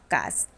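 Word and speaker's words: carcass: ইটস কাস। লায়লা জিজ্ঞেস করল, হোয়াট ইজ কাস? কাকাবাবু বললেন, কথাটার বানান হচ্ছে সি এ আর সি এ এস এস। কিন্তু আরটা উচ্চারণ হয় না।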